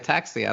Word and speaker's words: ataxia: normally read it it's ataxia and what that is no you're right isn't it no isn't it like at this year or something you know you said it right ataxia that's correct okay so yeah it's